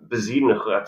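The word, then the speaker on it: Bezuidenhout: And this Christian Bezidenhut, I believe that's how you pronounce that. Yeah. That H is more of a ch.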